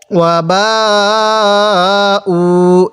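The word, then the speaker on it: وَبَاءُو: যে মদের হরফের উপর এরকম মোটা চিহ্ন, এরপরে এরকম গোল হামজা থাকলে সেখানে আমাদের 4 আলিফ টানতে হবে। ওয়া বা উ এরকম করে পড়ব।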